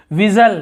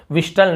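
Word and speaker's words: whistle: विजल, यहाँ पर विजल यानी सीटी, सीटी बजाना, विस्टल नहीं बोल रहे हैं।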